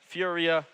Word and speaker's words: FURIA: Furia, man, I can't even speak. Ooh, Furia is how they say it.